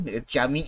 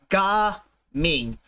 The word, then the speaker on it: Gaming: the official English pronunciation of um Jing's name jaming is the Chinese pronunciation by the way so it's pron is pronounced as G Ming so hopefully that clears all of um all